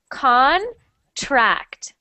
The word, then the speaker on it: contract: fine next one contract so not con but Con on contract contract much better and